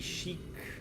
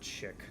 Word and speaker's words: chic: But we can be chic. New blueprint acquired. For the longest time, I pronounced that chick.